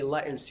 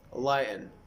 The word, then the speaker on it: lighten: The T comes before the N and before the schwa sound.